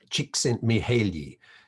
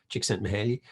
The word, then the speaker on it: Csikszentmihalyi: Csikszentmihalyi. Took me years to learn to pronounce his name properly, and with the assistance of a Hungarian academic friend, Csikszentmihalyi.